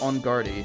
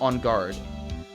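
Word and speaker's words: Engarde: Also, his name isn't pronounced Ongarde, it's just On Guard.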